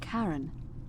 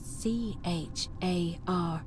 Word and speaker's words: Charon: The name you heard wasn't Karen. It was C-H-A-R-O-N, as in Charon, the ferryman of the dead.